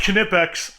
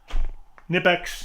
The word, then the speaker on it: Knipex: It's pronounced Knipex.